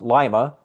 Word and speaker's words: Lima: Lima is pronounced Lima.